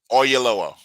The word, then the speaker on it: Oyelowo: I mean, and from now on, every time I see that actor David Olay, Oyelowo. yeah, thank you, man. I am horrible at pronunciations.